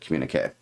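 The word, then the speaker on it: Communiqué: The next year, so that was 1979, they put out Communique. That's how you pronounce it, Communique.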